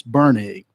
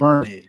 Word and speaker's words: Bernig: My law partner is Marcus Bernig. Bernig. Yeah. It's a German pronunciation. Okay. So Bernig. No R. Yeah, no R in it.